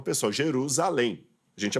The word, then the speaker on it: Jerusalém: estou adaptando por exemplo a gente não fala que Jesus foi crucificado em yerusalem a gente fala Jerusalém Jerusalém eu não estou traduzindo eu estou aportuguesado o termo hebraico ficou